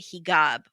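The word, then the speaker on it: hijab: and this woman was wearing a higab which is how you say it in Egypt oh that's right they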